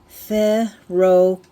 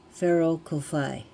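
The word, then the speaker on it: Whero Kōwhai: So you pronounce it ferrocoi. Ferro kofi. So the wh's become an f.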